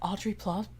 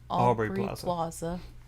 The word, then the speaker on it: Aubrey Plaza: of seconds, I'm like, is that Audrey Plaza? I always say her name wrong. Aubrey Plaza.